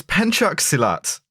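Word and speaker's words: pencak silat: God can we talk about combos learned to pronounce the name of this martial art yet uh it is it's it's penu silat uh p is like one of like about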